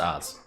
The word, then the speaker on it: Ophz: No, it's pronounced Oz.